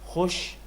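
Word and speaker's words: خوش: Khush, khush, amdeed.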